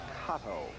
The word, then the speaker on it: Cotto: one down by five they pronounce that kato c-o-t-t-o henry cotto from the bronx iowa hit 261.